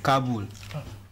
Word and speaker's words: Kabul: Kabul.